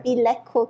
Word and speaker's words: Beleco: and today we are with Dr go from bco Clinic I pronounced it right right yes okay bco Clinic okay so before we get to know